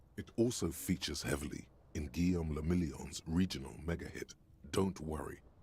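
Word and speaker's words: Guillaume Le Million: If it doesn't rhyme, you're not pronouncing it Guillaume Lamillion.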